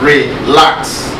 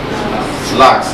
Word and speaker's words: relax: Relax. Where is the stress? Relax. On the second syllable, isn't it?